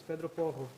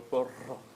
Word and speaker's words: Porro: By the way, the pronunciation is Pedro Porro, I think they say in Portugal. Because with the R, Portuguese. with the R, Portuguese. Yes. Pedro Porro.